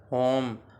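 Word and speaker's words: whom: की माना होगी किसका इसमें जो डब्लू व साइलेंट हो जाएगा और उसको इस तरह हम पढ़ेंगे हुज हुज की माना है किसका होम होम की माना है किसे यह भी सवाल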